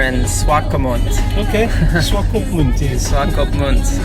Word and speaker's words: Swakopmund: Swakopmund. I finally figured out how to pronounce the name. It was a good tip when you said SWA stands for Southwest Africa.